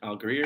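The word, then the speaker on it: Allgeier: tyler how do you say it greer algier al greer okay alligator cool um all right um so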